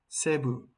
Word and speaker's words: Cebu: Cebu is pronounced as Cebu in Philippines.